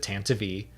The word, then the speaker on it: Tantive: And I was like, oh, now I have to pronounce it Tantive.